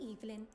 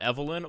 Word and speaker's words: Eivelyn: Please call me Eivelyn. Eivelyn, not Evelyn.